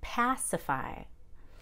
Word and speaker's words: pacify: Now, the verb for Pacific would be pacify. And in pacify, the PA is very clear.